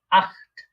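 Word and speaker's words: acht: ইংলিশে আমরা বলি 8, এটাকে ডয়েচ বা জার্মানরা বলে থাকে আট, আট, খ, আট, একটু খ এর মতো উচ্চারণ মাঝখানে আট। আমরা দেখেছিলাম সেহা এর আগে যদি আ থাকে তাহলে এটা খ এর মতো উচ্চারণ হয় আট।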